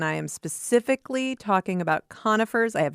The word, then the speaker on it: conifer: to the next degree, it's not conifer, but it's conifer. Um, so it's it's more of a long O. At least some of my conifer, excuse me, conifer friends pronounce it that way.